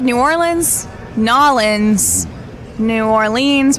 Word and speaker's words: New Orleans: So I've heard it said New Orleans, Nolans, New Orleans. How do you say it? New Orleans.